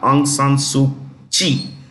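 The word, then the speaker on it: Aung San Suu Kyi: former Chief counselor of the state of Myanmar aung San suu Chi kyi is pronounced she is in jail now of course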